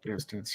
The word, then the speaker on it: Eratosthenes: I can't pronounce the name. Eratosthenes? Eratosthenes, yeah.